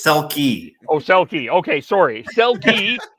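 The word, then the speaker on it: Selke: You said Selk. It's Selkie.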